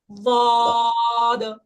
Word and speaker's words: ضاد: দয় জয়, দাও না, জও না। দয় জয়ের মাঝখানে দাদ।